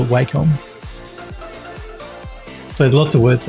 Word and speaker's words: Wacom: I used to call it Wacom, but I believe that Wacom say you should say it as Wacom. I still call it Wacom.